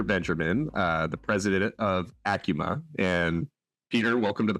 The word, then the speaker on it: ACUMA: Ling not about credit unions but how to pronounce acuma acuma is the correct pronunciation not Akuma correct correct that is correct so it has